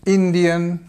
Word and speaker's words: Indian: Canadian again stress in the second, Australian, Australian, Indian stress on the first and Italian.